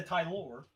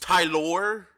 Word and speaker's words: Tyler: like me and a Thai lore yeah exactly what was that was that supposed to be some weird ass French mat no that's not how my name is pronounced Tyler yes tight that sounds